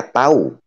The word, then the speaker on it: tahu: Dalam tata bahasa Indonesia, ya, huruf H di tengah-tengah di antara dua huruf vokal itu dihilangkan bacanya. Misalnya begini, tahu. Saya tahu. Itu tidak lagi kita bahasa saya tahu ya. Saya bacanya saya tahu. Artinya huruf H-nya hilang.